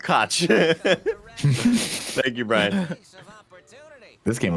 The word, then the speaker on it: Koch: Even though it's pronounced Koch.